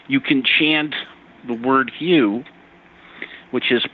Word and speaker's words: HU: You can chant the word hue which is pronounced um like hue is in the color hue.